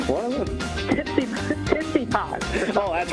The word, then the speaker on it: Tsitsipas: Why is Griffin right on the pronunciation? You're a tennis fan. Tsitsipas. Yeah. Tootsie Pie? What is it? Tsitsipas.